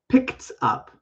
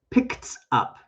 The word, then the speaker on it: picked up: Past tense, picked up. So it does have the T sound. Picked up. One more time. Picked up.